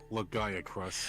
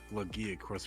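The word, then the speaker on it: Rajang: I believe we call him Lagaya Cruz. Ragaya, oh, sounds so cool! Really? Lagaya Cruz! Wow! Yeah. Lagaya Cruz. Eh? That's how some people pronounce it, but I always go with the Lagia Cruz pronunciation.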